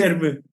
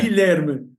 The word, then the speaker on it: Guilherme: How do you Guilherme. Guilherme? Okay, Guilherme.